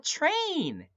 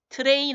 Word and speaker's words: train: 그래서 jump on the train. Jump. 뛰어라. 어디 위로? On the train. 그죠? 어디요? 기차 위로. 요거 발음 알려드린 거 기억나죠? 트레인 아니라 그랬어요. 어떻게? Train. Train 하시면 된다 그랬죠.